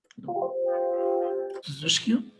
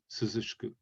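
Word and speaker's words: 涼しく: Suzushikyu? Suzushku. Yeah, exactly. Suzushku.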